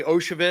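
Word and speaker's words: Iosivas: Andre Oshavis, is that how I pronounce his last name? Oshavis, but you're close.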